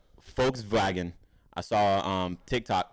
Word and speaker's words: Volkswagen: and the vows too they don't pronounce V's I don't like V's like that anyway though cuz like Volkswagen is actually Volkswagen I saw you uh folks vagon I saw um Tik